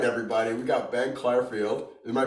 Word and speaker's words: Clarfield: We got Ben Clarfield. Am I pronouncing that correctly?